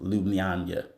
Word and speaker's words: Ljubljana: Slovenia in this uh in their capital city, Ljubljana. You're like, "What?" Yes, Ljubljana. That is spelled L J U B L J A N A, but it's pronounced Lubana.